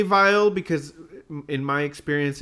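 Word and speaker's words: Weill: was Kurt vile and Kurt vile is definitely pronounced with a V sound here for the American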